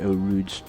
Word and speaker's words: Eau Rouge: and very powerful and very monstrous Infiniti Q50 Eau Rouge. It's pronounced that way, Eau Rouge, named after the famous corner at Spa-Francorchamps, one of my favorite courses in the world.